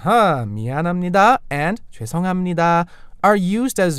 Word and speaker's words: 미안합니다: So should we practice the pronunciation of them now, Richard? First, we have 미안합니다. 미안합니다. Or more naturally as 미안합니다.